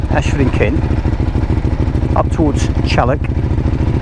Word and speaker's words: Challock: and kin up towards Chalik which is spelled chock I know but everyone calls it Chalik um the Stag which